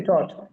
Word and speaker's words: taught: H T এইচ টি, থট। তাহলে এখানে থট বলেন, টি এ ইউ জি এইচ টি উচ্চারণটা কি? থট।